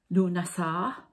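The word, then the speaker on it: Lughnasadh: Loaf Mass, or I'm going to pronounce this right, Lunasar. I think it's pronounced a few different ways by the sound of it.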